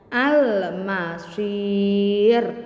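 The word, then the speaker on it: المصير: Membacanya biasa saja panjang, al-masir, dan huruf terakhirnya yang benar-benar akhir ini dimatikan atau disukunkan, al-masir. Gitu ya.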